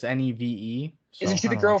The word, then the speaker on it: Neve: You got Neve Campbell, the girl from the Threesome and Wild Things. Campbell. Maybe it's Neve. It's Neve.